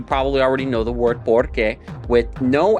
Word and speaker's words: porque: You could say, lo hice porque whatever. And the accent is removed, so the stress falls on that O in por instead of on the second syllable.